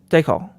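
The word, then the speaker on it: Dekal: a one 125 by Jeff Dalal is that right yeah de call De call yes de call I was just watching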